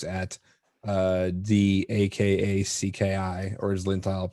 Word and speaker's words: Akacki: So it's at the Akacki, or as Lintile pronounces it, Akacki.